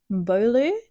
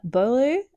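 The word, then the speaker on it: Beaulieu: 12-year-old Eevee, I do not know how to say her surname. Bolu. It's definitely um French. Uh, Bolu sinks to the bottom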